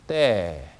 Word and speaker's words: Т: 러시아어로는 명칭은 떼, 발음은 뜨 이렇게 납니다.